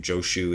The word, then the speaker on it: Joshu: Joshu is the Japanese pronunciation of the same master's name.